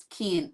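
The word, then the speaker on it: Kian: It's K I A N. But she pronounced it Kean Kean.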